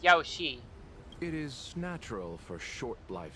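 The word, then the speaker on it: Yaoshi: so that one day Yaosir might be vanquished and the cycle of life and death restored. It's spelled as Yaosi, not Yaosir, but whatever.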